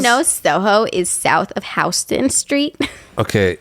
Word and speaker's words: Houston: If you didn't know, Soho is south of Houston Street. Okay, it's either Houston or Houston. No, it's Houston.